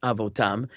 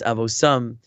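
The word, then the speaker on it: אבותם: Lemishpachosam leveis avosam, with a pronounce it with an S sound instead of a T.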